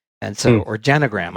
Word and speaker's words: genogram: I did my own genogram, and so or genogram. I just realized I've been pronouncing it wrong all of these years, and it is, I looked it up. Genogram is the preferred one.